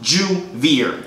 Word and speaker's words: Joovier: If you're watching this, my name is pronounced Joovier. It's pretty easy. It's pretty simple.